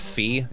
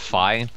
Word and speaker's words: Fi: some comments that uh apparently it's not pronounced fee it's pronounced fi I just want to